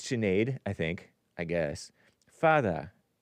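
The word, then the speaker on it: Sinéad: anglicization of a cad it's not Sinead it's chenade I think I guess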